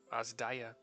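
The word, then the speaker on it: Adzaja: AA Azia providing comfort so it's it's spelled a z Delta a j a so every once in a while have to remember that's an i because it was pronounced that way from the voice actors uh providing comfortable quarters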